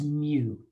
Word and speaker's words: mu: is a mu again that one has the funny pronunciation because it's greek well funny to me anyways it's mu okay that's how that's